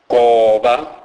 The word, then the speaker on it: goba: G is pronounced as K. K. It is pronounced as in the English words golf or gather. It is never given a G sound as in the word gentle. E.g., goba, goba, which means bend.